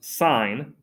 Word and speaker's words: sin: We have the s that looks like the word sin is pronounced sine.